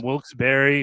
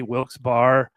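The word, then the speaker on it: Wilkes-Barre: But you of King's College, former tight end from Wilsberry, Wilsbar, Wils Bear, depending on where you are in the Northeast of Pennsylvania and how you say it.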